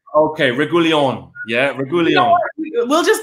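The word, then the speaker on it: Reguilón: Reguilon. Reguilon. Accent on the O means you go harder there. Okay, Reguilon.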